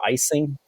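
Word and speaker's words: Ejsing: His name is Jesper Icing. His last name is EJ Sing. EJ Sing, but it's pronounced like icing on a cake.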